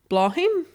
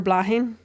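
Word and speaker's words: Bláthnaid: The first part is it says pronounced Blaw or Blah and the second one Hin. So, either Blaw-hin or Blah-hin.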